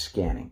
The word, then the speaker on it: SQANNING: And to distinguish it from those, I just spelled it with a Q, but it's pronounced scanning, as in scanning the body.